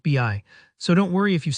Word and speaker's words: BI: It's easy to see buy together and think of it as buy, especially because in other words, buy is pronounced that way. But in this context, for Microsoft's data tool, it's always pronounced BI, so don't worry if